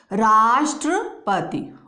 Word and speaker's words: राष्ट्रपति: तो इसको हम बोलते हैं ट्र, राष्ट्रपति।